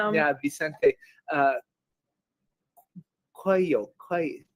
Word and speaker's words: Coelho: Coelho, is it spelled c o e l h o Okay, Coe Coelho. And I think it is Coelho.